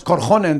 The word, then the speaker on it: Korhonen: Pro Sí sí Bueno los apellidos finlandeses siempre el acento va en la primera sílaba siempre siempre no no digamos korhonen digamos korhonen o o